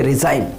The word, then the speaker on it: resign: ठीक है फ्रेंड्स, तो याद रखिएगा, अगर एन के पहले जी आता है तो वहाँ पे हमें जी को साइलेंट करना है। चलिए मैं आपको इसके कुछ एग्जाम्पल्स बताऊँ। जैसे रिजाइन, RESIGN, रिजाइन। ठीक है, तो रिजाइन मतलब होता है त्याग पत्र देना।